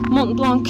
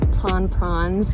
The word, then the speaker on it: Mont Blanc: I don't know, I kept saying it wrong. I was saying like plan prawns, and none of the French people understood me until like the third time I said it.